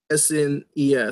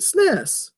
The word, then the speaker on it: SNES: It's pronounced SNES. Spell it out. So I've been saying it, man. I've been saying it. SNES. That's how you say it. SNES, right?